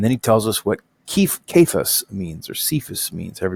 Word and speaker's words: Cephas: And then he tells us what Cephas means, or Cephas means, however you want to say it. This should probably be a hard sound. So this would be Cephas, which is, of course, just what happens if